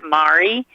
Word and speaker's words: Mari: and pronouncing my name it's mari mari okay calamari mar there we go okay